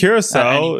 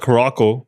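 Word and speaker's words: Curaçao: if you're not, it's not Caraco for sure, right?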